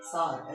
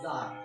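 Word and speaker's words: Tsar: टी एस ए आर है T silent करते हैं सार। ऐसे बोलते है जार।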